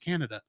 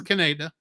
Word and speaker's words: Kaneda: They like he's or as I still pronounce it every time I see it, Canada. It's fair. He'll be like he's morphing into that enormous blob. Yeah, that was Kaneda.